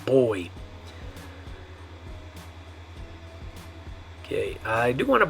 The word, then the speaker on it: voy: So you say boy, not voy. Boy. Yeah, it sounds like the English word boy, like a girl and a boy, right? But it's spelled with a V, boy.